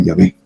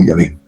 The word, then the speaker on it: Yahvé: Lo han castellanizado como Jehová o Yahvé.